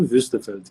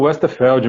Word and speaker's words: Wuestefeld: como é que tu pronuncia? Eu chamo Wüstefeld, que é o nome, né? Westerfeld, isso aí. É isso aí, então tá bom, então tá bom. Em Bom, português eu falo Westerfeld mesmo.